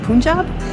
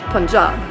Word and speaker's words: Punjab: past couple of days because i've always said punjab and apparently that is not how it's pronounced it's punjab so uh welcome to hotel one in bawapur